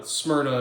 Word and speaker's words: Smyrna: Smyrna or smea uh Smyrna is how the Greeks would have pronounced it anyways it's in uh